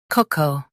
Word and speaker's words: cocoa: Both US and UK have the same pronunciation of this word, cocoa. Now read the syllables shown on the screen naturally. Co, cocoa. Stress co and keep co soft, smooth flow.